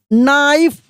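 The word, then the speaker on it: knife: ही took his नाइफ, तो देखिए यहां के साइलेंट है ना।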